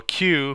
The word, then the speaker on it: queue: and the deck so a cue pronounced by the letter q is actually from the